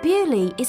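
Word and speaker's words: Beaulieu: village it's in England but bu is a French word in English we say Bui but in French it's B Le beautiful place and it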